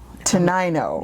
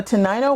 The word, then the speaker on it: Tenino: Tenino. Yeah. Tenino, Washington. I'll give you a hint. It comes after 8. Oh, Tenino. Oh, yeah, look at that. Yeah. So Tenino, Washington.